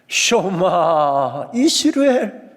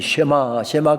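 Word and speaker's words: שמע: 쇼마 이스라엘아 들으라. 우리가 흔히 쉐마 그렇습니다만은 히브리어 정확한 발음은 쇼마이죠.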